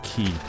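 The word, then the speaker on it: Qi: Oh, is it qui or key? Uh, I watched a video with concerned ape and he pronounces it qui.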